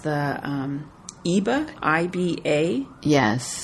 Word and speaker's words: Iba: Iba, I-B-A. Yes. I think that's pronounced either Iba or Iba by Bone Marie Burns.